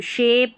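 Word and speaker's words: shape: Last में जो इ आ रहा है ना इन सभी के वो साइलेंट रहता है।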